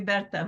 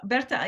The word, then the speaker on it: Berta: that's really interesting because my mother's name is Berta and so I I want to call you Bertha but no so that's that's that's their pronunciation of my name right and you should